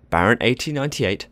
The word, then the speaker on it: Baron 1898: Baron 1898, famously pronounced Baron 1898 in Dutch, is a B&M dive coaster located at the Efteling in the Netherlands.